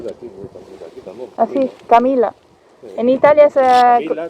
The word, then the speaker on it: Camila: En Italia se escribe con la doble L. Con doble L. Sí, que se pronuncia una Camilla, una L más fuerte, sí.